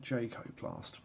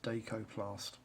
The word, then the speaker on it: Dakoplast: It does look like Jacoplast, but it's not. It's Dakoplast.